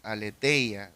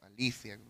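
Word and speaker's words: ἀλήθεια: tercer término la verdad en griego es aleteia o Alicia quieras pronunciar eh significa la realidad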